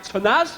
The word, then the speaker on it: Tanaz: Over here we have Tanaz. Is that how you say it? Yes. Tanaz?